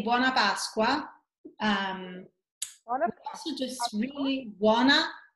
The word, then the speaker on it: buona Pasqua: say Happy Passover in Italian you can say buona Pasqua just sweetly Juana it's good happy and ask